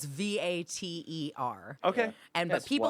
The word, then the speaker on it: Vater: So how do you spell it? It's Vater. Okay. And Yes, but people what- yeah. always go like Vader, and I'm like, no, you're with a D, dude.